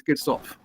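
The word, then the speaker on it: Kirchhoff: like that get off so people say k off kof and so on the German pronunciation is KS off that's s KS off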